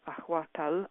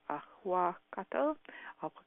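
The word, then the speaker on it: ahuacatl: Aztecs would say that avocados were definitely an aphrodisiac because the way they pronounced it, ahuacal, I think I'm pronounced ahuacatal, like avocado, actually means testicle.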